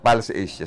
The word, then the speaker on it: Pulse Asia: Ang pronunciation na tama is Pulse Asia survey.